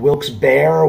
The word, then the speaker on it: Wilkes-Barre: i am in wilkes-barre wilkes bar wilkes-barre pennsylvania however you want to uh pronounce it this is my uh duplex that